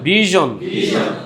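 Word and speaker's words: vision: বলবেন conclusion ভার্জন ডিভিশন ভিশন অনেকে ভীষণ টিভি বলে না ভীষণ না তো এটাকে কি বলতে হবে ভিশন ওরা ভীষণ বলে না ওটা ইংলিশের ভাষা ভুল বলে আবার বানানো ঠিক ওই রকম কিন্তু ওটা ভুল ওটা হবে ভিশন ওকে তারপর টেলিভিশন না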